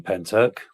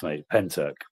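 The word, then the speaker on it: Pentyrch: Um I I live 10 minutes away from Penturk. That's what that's how it's pronounced. Penturk.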